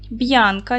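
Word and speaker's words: Бʼянка: звуків і два склади Б'янка ділимо на склади наголос падає на перший склад ось таку має схему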